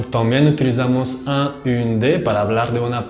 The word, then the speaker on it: un: Un es un sonido nasal. De hecho, cuando lo pronuncian, el paladar blando de su boca está bajando y así eso hace que el aire pasa por su nariz.